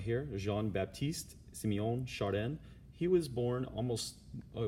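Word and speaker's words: Jean-Baptiste-Siméon Chardin: you say his spell his name right here Jean Baptiste Simeon chardin he was born almost I was more than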